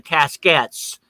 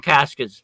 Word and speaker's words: casquette: And supposedly the casquettes, we call them caskets, but the French pronunciation is casquette, which is a small, like a little trunk type thing.